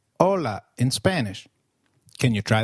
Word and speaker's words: hola: Hi is called hola in Spanish. Can you try that please? Hola. Did you get that right? Ola. Remember, H is always silent in Spanish. We do not pronounce it.